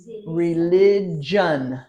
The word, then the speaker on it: religion: a little bit different religion John John religion religion normally if you see a g you think government not in not in this case in this case religion it's a John John religion speech okay remember